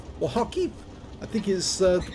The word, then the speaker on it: Kharkiv: It's located on the north spawn of Kharkov, or Kharkiv, I think is the correct pronunciation, and it's under the command of Zyriakster.